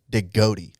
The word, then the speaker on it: DeGotti: his last name, and he actually prefers to pronounce it DeGotti. Ooh. So like the GOAT of all time.